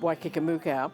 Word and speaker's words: Waikikamuka: And I said, "It's pronounced Waikikamuka. It's a fantasy place in New Zealand. There is no such place, but it's 4 Maori words put together that just comes out as, in English, Waikikamuka."